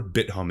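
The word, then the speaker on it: Bithumb: So now Morgan Stanley is bidding for, BitHum is how I pronounce it, South Korea's top crypto exchange for a $2 billion valuation.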